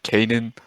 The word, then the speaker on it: Canaan: Canaan. Did I pronounce that correctly?